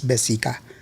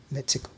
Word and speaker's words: Mexica: And so instead of calling it Mexica, they said Mexico. And so the spelling, the correct pronunciation of the spelling is Mexica, but not Mexico.